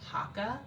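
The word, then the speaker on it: Haakaa: my own body um but this hakka pump is spelled h a a k a a Haka it's a silicone pump so I just sterilize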